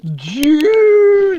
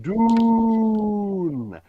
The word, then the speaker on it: Dune: no, it's just bizarre that you British people are always like June, and I'm like, no, it's Dune, Dune in your throat, Dune.